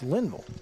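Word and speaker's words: Lynnville: How do you pronounce the city where Richland is? That's Lynville. All right. Thank you. Lynville, Tennessee. Lanville. Thank you. Lineville.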